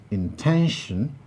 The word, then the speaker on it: intention: is to be produced so when we produce the word intention ten is the place where the primary stress lies number three contemplation contemplation